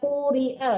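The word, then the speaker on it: قُرِئَ: lahu waitu la'allakum turhamun Ini kedengarannya qori iya benar ni. Hah? Wa qurial ya tadi dibacanya qorial soalnya coba lagi dehik harusnya apa Bu? Qurial.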